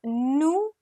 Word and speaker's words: nous: Many students in the beginning they'll say nous and vous. No, it's nous, vous. S is silent completely.